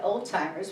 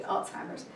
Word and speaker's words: Alzheimer's: Then I heard the term Alzheimer's, and for a lot of people, pronounce it old-timers, which I think is hysterical, but it's actually Alzheimer's.